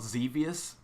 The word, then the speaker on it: Xevious: playing like there's this game called xevious spelled with an x and he it was